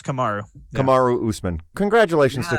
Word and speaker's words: Kamaru: It's Kamari or Kamaru. You know what? Someone texted me. Kamaru Usman. Yeah, it's Kamaru.